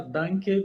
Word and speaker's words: Danke: É Dunk mesmo ou tem uma pronúncia diferente? Na Alemanha a gente fala Danke, mas Danke tá ótimo também.